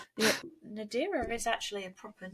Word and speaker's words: Nadira: or Nadira Nadira how's that spell how you pronounce it n a d i r a n a d i r a yeah that's